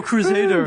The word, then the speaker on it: CruZader: It's the way he pronounces it. It's CruZader. Yes, you're yeah.